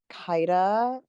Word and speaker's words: Kaida: Um um Kaida, why don't you introduce yourself? Hi. So, yeah, my character's name is Kaida. Basically rhymes with Skya.